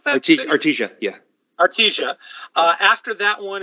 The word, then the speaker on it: Artesia: How do you pronounce that? Artesia, yeah.